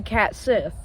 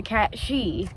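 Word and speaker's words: Cat Sìth: Starting with Scotland where they believe in a creature named the cat Sith. No, we're not talking about the Star Wars Sith. In fact, it's actually pronounced the cat she and this cat can lead to way worse things.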